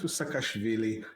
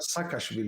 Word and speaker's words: Saakashvili: Yeah, so back to Saakashvili. It's not Saakashvili, it's Saakashvili, or something like that. Well, I pronounce it in sort of the Russified way. Sorry, Georgians. I say Saakashvili because it's like that double.